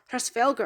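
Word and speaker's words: Hræsvelgr: and her family you see in Norse mythology prestvelt or pressfelger as it's originally pronounced was a yotune or Frost giant for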